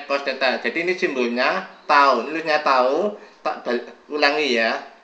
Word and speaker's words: tau: Oke, jadi ini tau, bacanya ini tau ya. Bacanya ini bacanya tau.